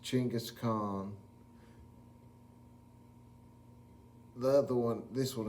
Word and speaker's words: Chinggis Khan: It's actually pronounced Chinggis Khan. It looks like Genghis. It's pronounced Chinggis Khan.